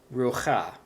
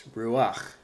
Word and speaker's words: ruach: my pointer here, that I did not pronounce this as rucha. I pronounced this ruach.